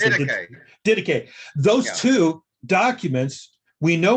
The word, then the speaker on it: Didache: I know Barnabas and the how do you pronounce it? Didache.